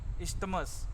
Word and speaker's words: Isthmus: The pronunciation is Isthmus of Panama.